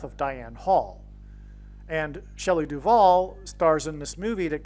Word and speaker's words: Duvall: And so Shelley Duvall, her name rhymes with Hall, and Paul Simon and Shelley Duvall met on the movie set of Annie Hall.